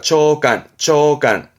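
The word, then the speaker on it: 長官: 관료, 발음은 칸요. 장관이죠? 정부 부처의, 그죠? 장관을 말하는 장관입니다. 초간.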